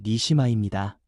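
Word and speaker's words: נשמה: 그리고 생기라는 말은 히브리어 발음으로 니시마입니다. 니시마는 하나님 자신의 숨, 하나님의 생명의 숨결을 뜻합니다.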